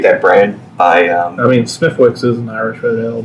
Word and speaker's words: Smithwick's: I mean, Smithwick's is an Irish Red Ale. But Oh, okay. I was going more general. Did you know that that's pronounced Smittix?